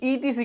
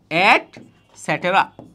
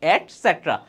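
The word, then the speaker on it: et cetera: করো করো ইটিসি কিন্তু ইটিসি কিন্তু বলা যাবে না এটার উচ্চারণ হচ্ছে এট স্যাটেরা ভাইয়া এখন তোমরা বড়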